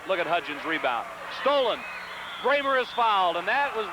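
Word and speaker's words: Brammer: block comes down into bramer's hand and then hudon fouls it on the shot it's Carol Brer b r m r pronounced bramer at the line four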